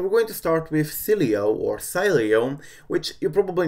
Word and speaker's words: Sileo: So Sileo or Sileo, which is pretty much the correct pronunciation according to Coolstar, will support Cydia legacy